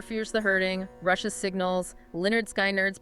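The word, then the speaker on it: Lynyrd Skynyrd: Also, Tears for Fears the Hurting, Russia's Signals, Leonard Skyn Nerds pronounced Lee Nerd Skin Nerd.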